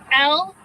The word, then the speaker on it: Lubas: That's spelled John, Lubis, Lubas.